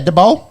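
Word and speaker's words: Daboll: DeBold, the Giants head coach is there. It's in the notes. How do you say it? Oh, Brian DeBold. yeah, Dabol.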